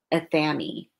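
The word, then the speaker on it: athame: Sparrow says this is so Sparrow says that so it rhymes with whammy. Okay, athemae.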